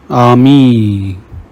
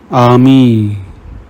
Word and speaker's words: ami: Whenever you see I, pronounce it like E in the English word me. Ami means friend. Il means he. Veet means fast. Let's practice. Read the examples. Ami, il, veet.